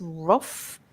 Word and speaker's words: rough: It's just like it's a F sound, rough.